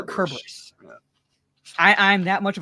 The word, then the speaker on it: Cerberus: Yeah, so it's kind of like when I pronounce Cerberus, people are like, no, it's pronounced Cerberus. I'm like, technically, in ancient Greek, there's no s sound. Yeah. In that regard, it'd be a Cerberus.